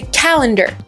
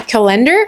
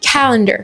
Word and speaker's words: calendar: Mais en anglais, c'est calendar. Donc on accentue la première syllabe. On dit pas calendar, on dit calendar.